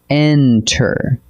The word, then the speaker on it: enter: Enter, with the beat on the first syllable, not the last.